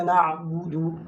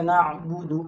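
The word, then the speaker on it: نَعْبُدُ: इय्याका नअबुदु, नअबुदु हमने आइन में पढ़ना है, हमजा नहीं पढ़ना।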